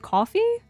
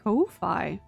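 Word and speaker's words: Ko-fi: You just pronounce it coffee. That seems so incorrect in my head. That's fair. That's fair. You kind of It It feels like it should be like Kofi. I think I've been pronouncing it wrong this entire time.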